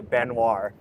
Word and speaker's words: Baignoire: this is how you pronounce okay guys we pronounce it the cardier benoir yeah so guys Alex is joining us and